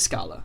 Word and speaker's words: Scala: It is Scala. Favored by the creator Martin Odoski and matches the Italian word for staircase.